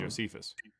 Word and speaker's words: Josephus: Or how you pronounce it. Say it one more time. Josephus.